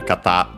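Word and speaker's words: 方: And by the way, as a reminder, kata, accent on, by the way, on the last syllable, becomes also an honorific for person instead of the usual hito, unaccented.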